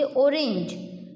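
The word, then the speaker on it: orange: हम बोलते ऑरेंज तो G बीच में आता है तो उसका साउंड आएगा ज।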